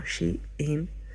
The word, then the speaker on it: Shein: O sea, cuando tú vas al creador de Shein, porque pone que hay que pronunciarlo como Shein, ¿vale? Como si estuviera pronunciándolo en inglés.